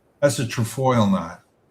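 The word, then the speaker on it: trefoil: That's a trfoil knot. How do you spell that? T R E F O I L. Trafoil.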